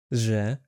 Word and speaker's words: Ж: Z like in garage.